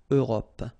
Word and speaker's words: Europe: Remember this final E, it's not really present. It only gives you the possibility to pronounce this P, PP at the end, okay? Europe.